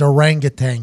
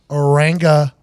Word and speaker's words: orangutan: He's been taught his entire life that it's orangutan. It rhymes, the tang drink. But if you ask any zoologist who's hung around a couple apes, it is 1,000% orangutan.